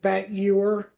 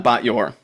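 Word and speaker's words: Bat Ye'or: Yeah, and there's that British guy who I don't know how you pronounce it, but it's like Bat Ewer. Yeah, Batyor. Yeah. Bat Ewer.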